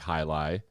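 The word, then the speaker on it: Jai Alai: brewery named their ipa hilai uh which sounds like hi-li if you if you pronounce it correctly it's cigar city brewing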